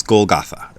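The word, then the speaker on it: Golgotha: they named it but it's golgatha how we'd pronounce it I think it's the proper way we'd pronounce it but the Japanese can't really do the th sound so it becomes golata so he's he's crucified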